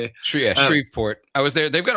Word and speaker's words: Shreveport: Yeah, Shreveport.